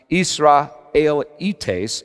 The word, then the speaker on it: Israelites: he's just spoken about israelites pronounced isra el etes in greeks but now he does